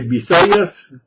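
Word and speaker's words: Visayas: Dans les Bisayas, je dis un B, mais ça s'écrit avec un V, mais les Philippins comme les Espagnols ne font pas de différence entre le B et le V.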